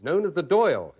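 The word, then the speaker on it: Dáil: of the Irish legislature it's known as the doyle it's spelled Dale pronounced doy so we go to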